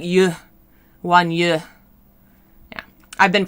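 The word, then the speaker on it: Yue: Yu, like Y-U-E, but with an E on the end, it kind of has like a sound. So it's not just you, like Y-O-U, it's more like yu, wan yu.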